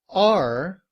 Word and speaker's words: are: In reduced form, are is simply written as a schwa and sounds like And when combined with